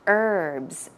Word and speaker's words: herb: Herbs. Herbs. Herb or herbs. But usually in North America, we say herb. As you see here, there is no h sound.